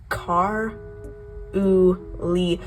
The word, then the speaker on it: Carly: to 8th grade and her name is pronounced car o le cuz there was this girl in my Elementary School who went by Carly Carly Carly not Carly not Carly like k a r u l i this video is going